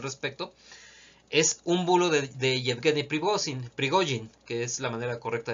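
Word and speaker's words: Yevgeny Prigozhin: camarada Salvador al respecto es un bulo de jetgani privosing que es la manera correcta de pronunciarlos según Tengo entendido pregojin el jefe de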